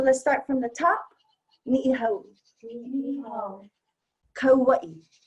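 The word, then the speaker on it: Niʻihau: Ni'ihau. Kauai. O'ahu. One more time. Everybody mispronounces that one, especially O'ahu.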